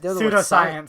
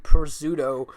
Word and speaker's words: pseudoscience: Pseudoscience. Pseudoscience? I was going to say pseudo. The P silent.